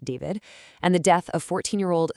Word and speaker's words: D4vd: Yeah, that's spelled D4vd, but pronounced David, and the death of 14-year-old Celeste Rivas Hernandez.